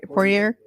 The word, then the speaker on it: Poirier: Poirier.